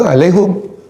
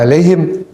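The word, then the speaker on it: عليهم: Ya, karena di kampungnya kalau mengucapkan itu alaihum, bacanya alaihum. Ya, tapi yang populer di Mekah alaihim, maka boleh dibaca alaihum.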